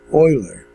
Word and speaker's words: Euler: more in the English Way the way to pronounce it oiler now since his last name began with an